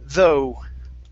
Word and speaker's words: though: instead of the okay the gh does not make a sound though though okay very good uh